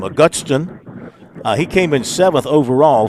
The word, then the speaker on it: Augustin: How do you pronounce his last name? Augustin.